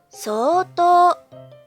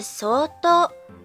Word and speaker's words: 相当: 詞プラス相当の文のとき、発音は相当に変わります。